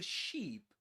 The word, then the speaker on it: sheep: The ship, we put all the sheep with a long E sound. We put all the sheep onto the ship.